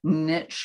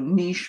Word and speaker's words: niche: is a very interesting niche or niche market and we're we'll we'll vacillate between those two ways of pronouncing it ryan i'm very much of a francophile and since niche is a french word and i but you